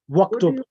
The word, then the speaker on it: waktub: If it is preceded by a word, the hamza is omitted in pronunciation, though it remains in writing. Example, uktub. Correct. So if there's a word, you just say waktub. So there's a wa before it. Waktub, the alif becomes silent.